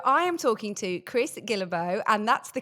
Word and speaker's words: Guillebeau: So I am talking to Chris Gillo and that's the correct way to say your name, isn't it, Chris?